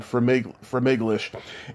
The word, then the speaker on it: Fermaglich: How do you pronounce his last name? Fermaglich. Ian Fermaglich.